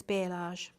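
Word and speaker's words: balayage: darker bit like a i can never pronounce it is it a bellage or how do you pronounce that you know the fancy hairdo where they've got all of the ombre hair colour it's bialage thank you i'm gonna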